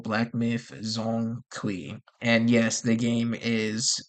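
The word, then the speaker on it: Zhong Kui: The Chinese pronunciation games come. Okay. Jeong Qui. Okay. So, the next game that they're making is called Black Myth Zong Qui.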